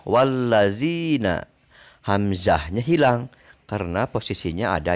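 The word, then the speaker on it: والذين: Nah, tidak terbaca karena ia ada di tengah. Maka dibacanya wallazina.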